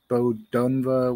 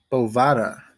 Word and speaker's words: Bovada: South Carolina it is legal to use the Bodunva, whatever the fuck. Let's see how you pronounce it, because I read it and I was like, oh, that's easy. Bovada.